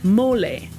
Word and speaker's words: mole: national dish of Mexico is actually something called mole. It's spelled m o l e but it has nothing to do with the creature that lives underground.